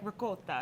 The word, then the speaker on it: ricotta: And he's like, ricotta. I think it's important to roll your tongue. You roll your R's.